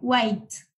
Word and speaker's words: white: Aquí, en vez de pronunciar la H, le ponen como una A imaginaria, white.